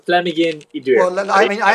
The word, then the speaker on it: Llamhigyn: It's double L, which is the Welsh sound cl, and Amhigyn Idur, which is DWR. And Llamhigyn Idur.